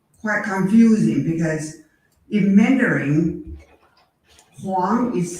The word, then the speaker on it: Huang: So W-O-N-G in Mandarin is Huang.